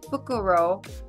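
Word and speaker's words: フクロウ: is a good omen the pronunciation for the world owl is fukuro I hope I did that right can be put into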